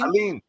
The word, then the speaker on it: Allyene: Allyene.